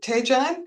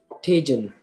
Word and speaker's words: Tun: Do is it Tan? How do you say your first name? Tun. Tun. Yes.